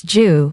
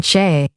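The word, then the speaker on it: 車: In the context of Shangchi, all of these characters are pronounced as Ju instead of the common pronunciation cha.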